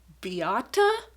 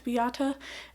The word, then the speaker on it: Beate: in the Room by Beata Sarota Gordon? Beate? I think it's Beata. Again, I looked up a couple of different ways to pronounce it, but I believe it's something in the neighborhood of Beata.